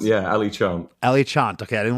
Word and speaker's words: Ali Chant: pronounce? Yeah, Ali Chant.